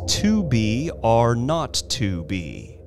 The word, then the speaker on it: 2BRø2B: were supposed to call the zero in the telephone number he pronounced not the number was 2B are not to be it was the telephone